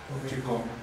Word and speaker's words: chicome: Chicome. Chicome. ¿De dónde se forma? Lo mismo que igual. Bueno, de lo mismo. Chic, home. Hay contracción. Chic, home. Esto es algo como bueno.